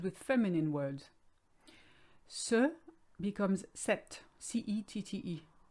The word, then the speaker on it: ces: case sir and set becomes se c e s and you never say the s by the way the